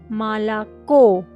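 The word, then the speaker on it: молоко: For example the word Malaco. Here you can see there are three O's in Mala Co. but only the last one is pronounced as O. The other two are pronounced as A ma la co which is milk.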